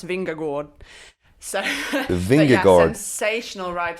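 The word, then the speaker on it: Vingegaard: how lionel did earlier i actually messaged my danish teammate emma norsgaard during the stage to ask her to send me a voice note of uh the pronunciation which i think is jonas vinger gord so the vingagor sensational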